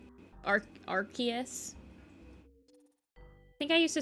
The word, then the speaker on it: Arceus: Like, Pokemon names that they just pronounce completely wrong. Out of pure spite at this point, probably. Arceus. Arceus.